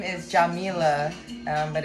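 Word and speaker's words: Yamila: Spanish speaking and so her name is actually pronounced Jamea.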